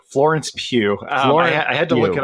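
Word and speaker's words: Pugh: Natasha Romangh's sister, the actress, how do you pronounce her name? It's Pew. Florence Pew.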